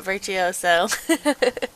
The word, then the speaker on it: virtuoso: Virtuoso, that's how you say it, virtuoso.